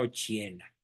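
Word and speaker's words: Occhiena: mamá se llamaba Margarita ochena ochi con doble c se pronuncia ochena su formación profesional pues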